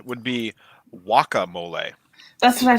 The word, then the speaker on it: guacamole: And actually, the Spanish pronunciation would be guacamole. That's what I said. Yeah. It's only the first syllable. So wa, we say gua, we say wa, but the English pronunciation is guacamole.